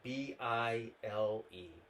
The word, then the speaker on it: Bile: That's spelled B-I-L-E.